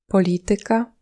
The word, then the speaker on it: polityka: Il peut être sur la troisième syllabe avant la fin dans des mots d'origine grecque ou latine du genre Muzyka, polityka, fizyka.